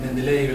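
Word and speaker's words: Менделеев: en cuanto libro encuentre, la traducción correcta, señalan los propios rusos al español, es Mendeleev, y sería Mendeleev la pronunciación, según se comenta.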